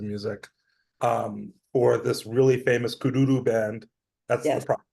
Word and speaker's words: Kuduro: in terms of music for this really famous Kuduro band. That's Yes. the proper way to pronounce it.